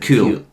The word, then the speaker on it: Kewl: It's spelled Winter Kewl. Winter Cool.